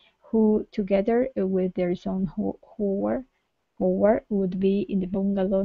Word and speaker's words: Howard: Okay, so instead Howard. of ha, okay, really pushing into that H, nice light H. Howard.